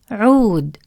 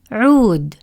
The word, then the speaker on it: عود: the long vowel واو, it creates a long عو sound, as in the word عود, which means rod. The واو stretches the sound of عو longer. Repeat after me. عو, عود, عو, عود. Feel how the long عو sound in عود is extended compared to the short vowel عو in عصفور. When عين carries the short